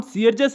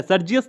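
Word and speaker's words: Sergius: अब दोस्तों, ये नाम सीयरजस है, सर्जियस नहीं है।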